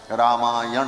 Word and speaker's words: रामायण: अब व्याकरण के नियम से न को हो जाता है। रामायण ऐसा उच्चारण किया जाता है।